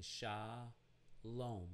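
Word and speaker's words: שלום: in the word shalom we're using shah lom the closing consonant is the mem sophiet so we know shalom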